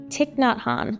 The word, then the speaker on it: Thich Nhat Hanh: And I read a book, forgive me if I say his name wrong, Thich Nhat Hanh, I think is how you say it.